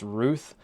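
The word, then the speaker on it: Routh: Wesley Ruth or Ralph I highly suspect that is actually pronounced Ruth uh due to some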